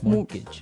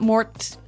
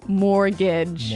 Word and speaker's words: mortgage: with a t yeah it has a t in it but you don't pronounce it you say mortgage morgage so not Mort mortgage not mortgage morgage mortgage yeah I had